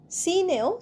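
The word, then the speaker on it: scene: সিনেও সি উচ্চারণ হচ্ছে না।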